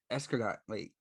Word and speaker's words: escargot: Escargot. That's how you pronounce.